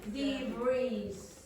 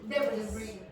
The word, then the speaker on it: debris: Would you be able to tell me the pronunciation of that? Yes. The breeze.